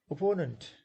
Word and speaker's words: opponent: Opponent, opponent, opponent, three syllables, second is stressed.